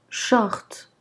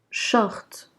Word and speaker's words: short: Donc ici, SH sera prononcé ch, ch. Donc short, short.